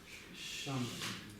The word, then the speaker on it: གཤམ: Щам. В каком тоне? В высоком. В высоком. Почему щам? Почему не щам? Предписная не произносится, но повышает тон у тех, Да, но у щам